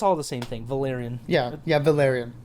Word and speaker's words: Valyrian: Valyrian.